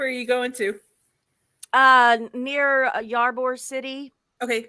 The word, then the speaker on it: Ybor: Near Ybor City. Okay. Ybor City. Yeah, Ybor. Ybor, yeah, Ybor. It depends like on who you talk to. We all pronounce it differently down here.